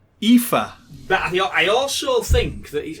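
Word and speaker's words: Aoife: it comes from yeah life a-o-i-f-e don't know i mean it's four vowels and it's five letters long pronounced ifa but i also think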